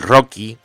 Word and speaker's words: RoCE: aceleración como es el Rocky Rocky es una cosa que se escribe roce r ce ahora hablaremos de ella o